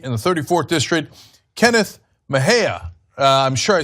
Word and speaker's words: Mejia: another California candidate in the 34th District, Kenneth Mejia. I'm sure I said that wrong. So I am the worst with names. Kenneth, how do you say the last name? Kenneth Mejia.